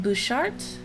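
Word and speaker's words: Butchart: As you can see in chat, it is pronounced Bouchard, but it is spelled B-U-T-C-H-A-R-T.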